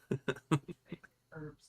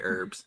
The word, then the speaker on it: herbs: Herbs, dude. No, he doesn't actually say herbs. No, I say herbs. No, he does actually pronounce the H, unlike most Americans.